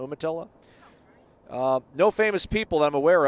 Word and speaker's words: Umatilla: time posting i'm from a small town of umatilla is how we pronounce it steph umatilla umatilla no famous people i'm aware of but i